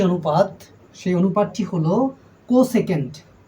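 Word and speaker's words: cosec: এসই সি কসক কসক এটার বাংলা উচ্চারণ হবে এরকম কোসেক কস দন্ত স একার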